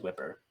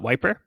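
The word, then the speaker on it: Wyper: It was Whipper. Yeah. So you could just pronounce it as Wiper.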